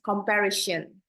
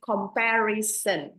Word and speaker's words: comparison: I noticed some people said comparison as comparison. So the correct one is comparison.